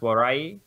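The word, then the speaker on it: 笑い: Japanese use www because laugh, which is pronounced warai in Japanese.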